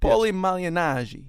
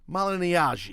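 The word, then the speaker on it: Paulie Malignaggi: Paulie Malignari. Wow, pretty good. Come on. Malignari.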